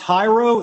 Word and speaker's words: Jairo: is your first name is it pronounced Hiro is that correct yes correct all right well all